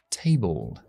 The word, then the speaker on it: table: A, E, I, te, table, table. Cuando vemos al final de una palabra una L y una E, esa E no se pronuncia, pero se pronuncia una schwa delante de la L.